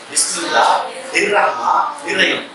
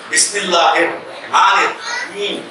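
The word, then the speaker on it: بسم الله الرحمن الرحيم: என்னடா இவ்வளோ சொன்னா பிஸ்மில்லாஹ் இர் ரஹ்மான் இர் ரஹீம். அல்லாஹ்வும் காணும், ரஹ்மானும் காணும், ரஹீமும் காணும். பிஸ்மில்லாஹிர் ரஹ்மானிர் ரஹீம் சரியான உச்சரிப்பு.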